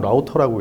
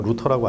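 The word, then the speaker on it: router: 근데 얘는 항상 라우터라고 읽어요. 루터라고 안 읽어요.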